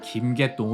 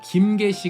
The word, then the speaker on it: 김개시: 이름 에 " 개통 " 이라는 글자가 들어가 있어 많은 사람들 이 그녀 의 본명 이 김개통 이라 고 생각 했지만 , " 김개시 " 가 정확 한 발음인 것 으로 밝혀졌습니다 .